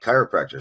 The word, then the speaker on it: chiropractor: meant killed chilled like chiropractor starts with a CH but it's pronounced with a k sound there's this old dictionary